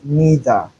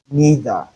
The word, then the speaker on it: neither: They are in free variation because we have two ways each of them can be realized or pronounced. We can either say neither or neither. Both ways are correct.